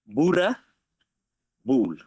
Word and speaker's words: Boerboel: It's pronounced Boerboel. Boerboel. Yeah. Okay. Yeah, over here in the USA, we say Boerboel.